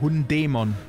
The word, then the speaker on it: Hundemon: Und es wird aber eigentlich Hundemon ausgesprochen oder Hab ich nicht Hundemon gesagt? Doch, aber Hundämon.